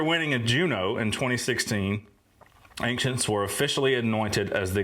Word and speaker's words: Anciients: a band called ancients with two eyes a n c i i n TS so I guess it's pronounced ancients where are they from Vancouver